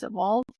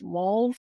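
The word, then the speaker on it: Waltz: its name originates from Jacob, Wald? Often mispronounced as Walls, a German prospector who reportedly found the mine in the 19th century.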